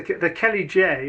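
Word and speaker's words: Céli Dé: the the there's various views on this the Kelly which is the correct pronunciation although many I mean the term kaldi is widely used it was I'm not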